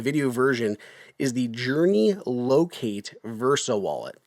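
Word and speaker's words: Loc8: So, this I'm holding it up on the video version is the Journey Locate Versa Wallet. And locate is spelled L O C 8 like the number.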